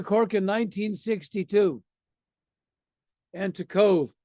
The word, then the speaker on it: Cobh: There's Cove and Cork. I went to Cork in 1962. And to Cove, it's pronounced Cove, to do a favor for a friend of mine.